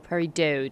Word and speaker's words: Peridot: Pickaxe for Peridot. Where the fuck do I find Peridot? Or Peridot, depends on how you want to pronounce it.